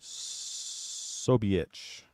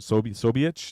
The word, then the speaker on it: Ksobiech: Ksobiech. Oh my God, you're very, very close. But how would you know not to pronounce the K? How did you know the K was silent?